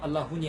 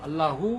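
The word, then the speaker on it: اللهُ: 알라훈이 아니고 알라후 혹은 문장에 따라 이제 문법적으로 바뀌면 알라하, 알라히 이렇게 바뀌기도 하는데 알라후.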